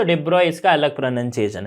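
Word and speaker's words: de Broglie: ब्रॉग ली इसको कहीं इसका जो एक्चुअल प्रोनंसिएशन है वो क्या है डिब्रॉय इसे हम इस तरह से प्रोनाउंस करते हैं डिब्रॉय ओके तो बट नॉर्मली हम इंडिया में डि ब्रॉग ही बोल देते ओके डिब्रॉय बोलोगे तो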